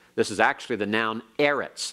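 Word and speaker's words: אֶרֶץ: is actually the noun Eretz like Eretz Israel the Land of Israel Eretz is a seg late noun and accent on the next last syllable alright we're going to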